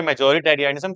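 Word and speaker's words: majoritarianism: इसीलिए ऐसे प्रोनाउंस करो कि स्पेलिंग याद हो जाए।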